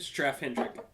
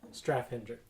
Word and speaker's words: Straffe Hendrik: Straffe Hendrik. Straffe Hendrik.